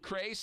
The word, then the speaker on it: Crais: Crais. Rhymes with Trace.